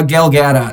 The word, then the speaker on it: Gal Gadot: __ ] tomorrow dc you know oh uh gal gadot yeah yeah yeah that's how you pronounce it yeah there we go she's yeah